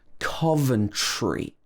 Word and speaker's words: Coventry: in the uk is coventry this is not carve it's not cove but cove then tree with the difficult tr combination in the middle coventry coventry this one is